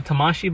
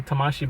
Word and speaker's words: Tamashii: And as you can see, it is a Tamashii Buddy. I believe that's how you pronounce it.